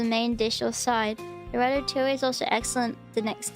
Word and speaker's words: ratatouille: The ratatouille is also excellent the next day. Cover with foil and reheat. Looks good. I'm gonna make this next week. Yeah. Ratatouille.